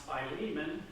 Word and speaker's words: Philemon: to diane not telling her beforehand that is pronounced philemon so in paul's letter to philemon so the back story is that paul has